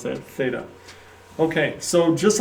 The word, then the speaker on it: theta: Pronounce that theta.